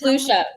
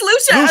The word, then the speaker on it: Lucia: Is it Lucia? Am I been saying it wrong all this time? It's Lucia. It's Lucia.